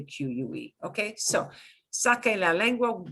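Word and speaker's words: saque: would sound like sasse c e is s s the s sound so in order to get back to a k sound i have to make it a q-u-e okay so sake la language b stick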